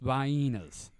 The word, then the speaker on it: Vienna: this do you mean Vienna sausages I am from the south sir and down here it is pronounced venas I can attest that